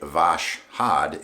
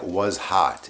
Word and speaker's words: Voskhod: how to pronounce it i was pronouncing the blade vash had it's he said it's like was hot it's hot in russian so hey that's cool